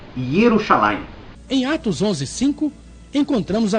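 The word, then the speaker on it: ירושלים: Observe o nome da cidade, Yahushalaim. Eu observei o nome da cidade, sim, e percebi também que só existe no mapa da sua cabeça, porque se você se refere a Jerusalém, o nome correto é Yerushalayim.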